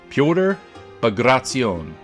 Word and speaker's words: Pyotr Bagration: there butchering ship names it's pronounced piotr by grazion pegrazione has four syllables i put a link